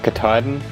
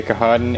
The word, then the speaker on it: Katahdin: is mountain okay so i found out later that it's pronounced mount katahdin so i apologize just know that in the next video where i actually hike mount katahdin i'm gonna say kahadan and that's just how